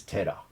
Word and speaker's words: 寺: in japanese that is otera the o is honorific the pronunciation of the kanji is tera the other pronunciation is